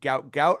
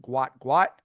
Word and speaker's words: Gout: People have been calling him Gout. I believe his name is actually pronounced Gwat.